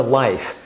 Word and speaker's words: Liyf: Now, the other probiotic that they have, the Pyradyme has, is called Pura Life. And the life part is spelled L-I-Y-F, life in your food, once again.